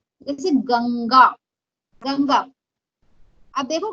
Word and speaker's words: गंगा: तो उसका प्रोनाउंसिएशन ग उंग गा, गंगा।